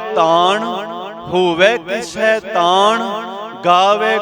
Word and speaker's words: ਤਾਣੁ: को तान होवे किस तान गावे को दात जाने निशान इथे आप ज उच्चारण करना है तान नहीं कहना नने दा उच्चारण उ नहीं होना चाहिदा थे नाना है नाना तान गावे को तान